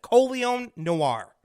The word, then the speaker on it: Colion Noir: name but I'm I have a little trouble pronouncing it colion colion that's it colion Noir um really cool name when you can actually